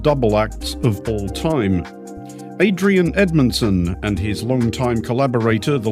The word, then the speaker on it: Adrian Edmondson: spoke to Adrien Edmonson for the big interview Adrien Edmonson welcome to the big interview well thank you